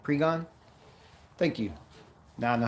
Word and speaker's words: Pregnon: Pregnon. You can't say that. Pregon? Oh. So the other N is silent. Pregon?